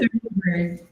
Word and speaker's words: Thunberg: Thunberg.